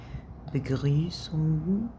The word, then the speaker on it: Begrüßung: طبعا الجي مش بنتك عليها، يعني اي مقطع اخره ONG اللي هي UNG مش هنتك على الجي، مش هنطق الجي، فتبقى Begrüßung.